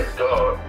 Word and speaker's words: Ice Gawd: Oh, it's ICEG, same as God, but it's GAWD. Okay. Ice Gawd. And then, BEAT with a Z. Okay. So Ice Gawd is my Facebook.